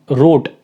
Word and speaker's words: wrote: WROTE रोट, ये वाला रोट लिखा है, इसमें W की आवाज़ नहीं आएगी, R की आवाज़ आएगी सीधे सीधे।